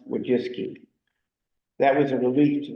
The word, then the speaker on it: Wojcicki: That's a Polish name. It's spelled Wojcicki. And they said in the article, it's pronounced Wojcicki.